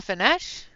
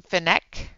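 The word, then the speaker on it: Fenech: to do this one here out of Selena fines it's called teas I just I I think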